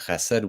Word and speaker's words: chesed: And Ajahn Kovilo, your pronunciation of chesed was literally perfect. You got the consonant.